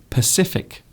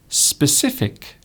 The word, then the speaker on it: specific: They say Pacific instead of specific. So you have specific, that means a certain thing.